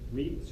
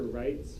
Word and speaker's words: REIT: Another type of fund, which is a lot more popular, are REITs or rights. Sometimes they're pronounced either way.